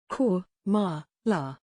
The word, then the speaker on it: Kamala: her name pronounced incorrectly cor ma la iss is the correct way to pronounce her name babel say